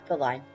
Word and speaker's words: Thalai: I just want to make sure I pronounce the name right. What is it? Oh yeah, Thalai.